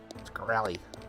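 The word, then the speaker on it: Shkreli: dude oh yeah yeah Martin scell Martin scy you got to say his name like that scy yeah freaking Pharma bro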